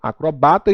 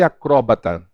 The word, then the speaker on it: acrobata: de dupla prosódia tá eu tenho acrobata e acrobata a a sala a azaleia azaleia Boêmia e Boemia Então essas palavras como vocês estão vendo elas apresentam dupla prosódia a olha no caso